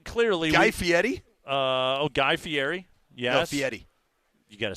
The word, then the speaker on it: Guy Fieri: 100% so um clearly guy FTI uh oh Guy Fieri yes FTI you got to say it correctly